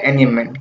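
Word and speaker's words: एंजांबमेंट: तो इसे बोलते हैं एनियममेंट। क्या बोलते हैं, एनियममेंट। इसमें जे होता है ना, साइलेंट होता है, इसलिए इसको एनियममेंट पढ़ते हैं।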